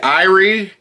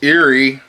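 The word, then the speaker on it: Eyrie: it i don't know i've heard some people say beneath the irie i think it's eerie e-y-r-i-e pixies and finally album from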